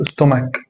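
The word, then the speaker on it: stomach: خد بقى كلمات كتيره زي مثلا تكنولوجي تكنولوجي استماك يعني مادى استماك وهكذا يبقى حرف ال يبقى حرف الاتش بينطق مثل الهاء في اللغه العربيه بينطق شين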